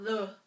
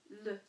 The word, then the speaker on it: le: So, the masculine form of the is le. And this is where that little schwa comes into play, because this is not le, it is le. It's very slight, okay?